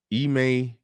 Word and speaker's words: Ime: email udoka email udoka that's uh okay so they say it wrong on ESPN I just want to make that clear half of the people on ESPN don't say his name right if it's truly pronounced email they don't even say it right we about to prove